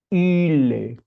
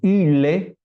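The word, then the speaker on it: ὕλη: l e esa y se pronuncia poniendo los labios como u Pero dentro de la boca pronunciamos una I ile así de curiosito Así mismo entonces yile o en latín Silva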